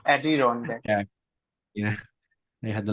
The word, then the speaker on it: Adirondack: Something like Arondira. Maybe saying it wrong. Coming back to you, Arondir. passing to Shane. Adirondack. That is Yeah. correct. Adirondack.